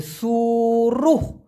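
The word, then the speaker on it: suruh: দিতে পারেন হ্যাঁ এস ইউ আর you Hayes উচ্চারণটা হবে সুরুহ সুরুহ মানে হচ্ছে কোন একটা কিছু করতে বলা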